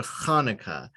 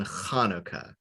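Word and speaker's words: Chanukah: english letters as transliteration the ch always makes a ha like in hanukkah or a puppet or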